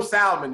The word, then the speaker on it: salmon: But I have to say, I love how you pronounce the L. Well, because that's how they pronounce it in the South.